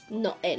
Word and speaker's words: Noel: So, isa sabihin mo, Noel, dalawang nota na yun. So, dapat yan, so ilagay nyo na, Noel. Ilagay nyo na isang nota. Para walang trouble. Pero sa tamang pronunciation. Noel.